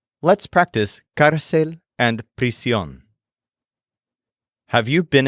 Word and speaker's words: cárcel: The word for jail is cárcel, and the word for prison is prisión. They're both feminine nouns, and they're both spelled with an accent mark on the stressed syllable.